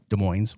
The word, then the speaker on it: Des Moines: Mo Iowa or here De Moines's Washington. So they pronounced the S.